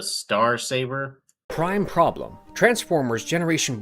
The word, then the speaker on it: Star Saber: Darkly potent vorpal saber they just say marble saber isn't it pronounced the star saber Prime problem Transformers Generation